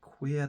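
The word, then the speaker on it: Qi'ra: But you think this is an average standalone film, I think it's pronounced Queer, the one Kira, the one Emilia Clarke plays.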